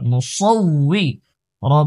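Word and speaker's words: الْمُصَوِّرُ: জের we Musawi Musawi সাদের উচ্চারণ মোটা মুসাউই যেন না হয় সাদ মোটা মুসাউই রা পেশ রু মুসাউইরু আল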